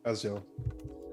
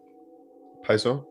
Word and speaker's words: Paizo: Azio. How do you pronounce it? Paizo?